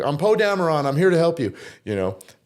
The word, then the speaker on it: Dameron: And I was like, well, it's spelled like Cameron, but with a D in front.